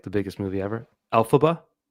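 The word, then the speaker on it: Elphaba: And Olive is being I should know how to pronounce this because it was like the biggest movie ever. Alphaba.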